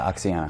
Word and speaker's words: Oxyana: you are the director of Oxyana. Am I saying it right? Yeah, Oxyana.